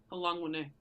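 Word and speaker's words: Hlongwane: Halongwane.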